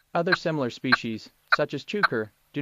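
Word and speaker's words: chukar: Sounds like it's saying its name with emphasis on the second syllable. Chuker.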